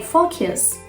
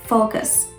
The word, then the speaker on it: focus: innocent but it's not and many people say four kills four kiss but it shouldn't be pronounced like that the right pronunciation is focus focus so how many people say it is